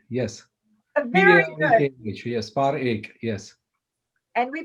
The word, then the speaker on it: Parekh: Now, is it Parekh or Parekh? Parekh, How yes. Parekh? yes. Very good. Parekh, yes. Parekh, yes. And we pronounce it Parekh.